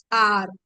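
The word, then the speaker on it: hour: plus noun starting with a silent h like we have a word called our right or our and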